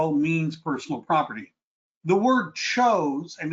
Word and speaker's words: chose: The word chose and it's actually pronounced chose is another word that you might see on the state exam.